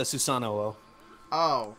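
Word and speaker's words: Susanoo: you mean like the susano oh it's a susano oh you're supposed to double pronounce the O It's Kind like that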